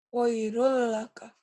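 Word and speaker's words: خَيْرٌ لَّكَ: Khairun ujungnya apa? N. Bunyi E-nya sekarang berubah jadi apa? L. Jadi L. Gimana bacanya? Khairul laka.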